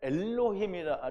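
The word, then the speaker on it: אלהים: 하나님의 말씀이 내게 들어와서 그게 로고스가 됐어요 그러면 엘로힘이 되리라 하셨고 성경은 패하지 못한다고 했는데요 우리가 엘로힘이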